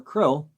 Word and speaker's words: KRLL: KRLL or KRLLL or CRLL or CRLLL, pronounced Krill or Krill, was the hostage left